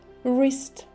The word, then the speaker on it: wrist: Wrist. W вначале не читается.